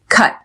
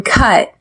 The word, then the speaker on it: cut: on the word cut cut notice how I don't pronounce the T at the end I press air out of my mouth and stop cut you need to